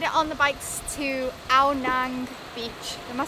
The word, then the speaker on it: Ao Nang: So here we are, we've made it on the bikes to Ao Nang Beach. Am I saying it right? Ao Nang Beach, yeah.